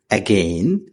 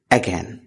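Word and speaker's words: again: যেটি ভুল উচ্চারণ শুদ্ধ উচ্চারণ স্যাড দ্বিতীয় শব্দ এগেইন যেটি ভুল উচ্চারণ এবং সঠিক উচ্চারণ হলো এগেইন এগেইন আমাদের এই সেশনটি চলমান থাকবে আমাদের এই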